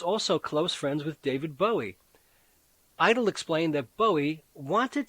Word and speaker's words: Bowie: very much a beatle oh bowie he would say contemptuously to rhyme with bow wow idol wrote the monty